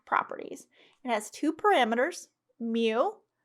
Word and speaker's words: mu: it has two parameters mu pronounced like the pokemon and sigma which is